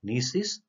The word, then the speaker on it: gneiss: Granite, example is gneiss, G is silent there.